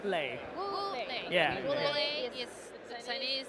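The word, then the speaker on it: Wu Lei: Wule. Ule is not playing. How do you say? Ule. Wule.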